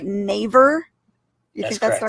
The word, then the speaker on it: Naver: by, am I going to say it right, Naver? You think that's the right way to say it? Naver? Okay. Yes. They were just bought out by Naver.